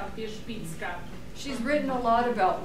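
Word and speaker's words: Wierzbicka: How do you pronounce it again? Wyszbicka.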